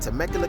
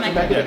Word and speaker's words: Temecula: On this episode of the Herbalife Roadshow, I got a chance to visit Temecula, California and hang out with one super cool couple.